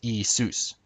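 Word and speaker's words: Ιησούς: how they pronounce it nowadays Jesus would be pronounced isus isus with the accent on Zeus not isus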